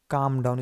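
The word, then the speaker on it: calm down: दो एल है दोस्तों यहां पर। ये क्या है दोस्तों? यह साइलेंट। इसका उच्चारण नहीं करते। इसलिए क्या पढ़ा जाता है इसको? काम डाउन।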